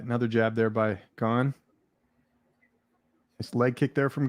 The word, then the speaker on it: Gane: in my prospects video serial gun like i don't think that's how it's pronounced dad all right another jab there by gone this leg kick there